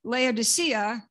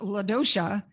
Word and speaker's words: Laodicea: The city known in the New Testament as Laodicea, or sometimes pronounced Laodicea, was founded by King Antiochus, a Seleucid king who reigned in the middle of the third century before Christ.